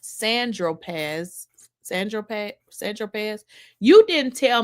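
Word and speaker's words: Saint-Tropez: So, Agnifos says, "When you bought the eight ball of Coke on St. Tropz, Tropz, pronounced Sandropz."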